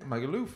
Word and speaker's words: Magaluf: say my Google magalov you say laugh as if you're saying um Loughborough yeah he's Michael off in it magaluf isn't it oh no